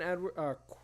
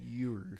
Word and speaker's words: Ewers: But Quinn Edwards. No. I keep saying his name wrong. No. Quentin Ewers.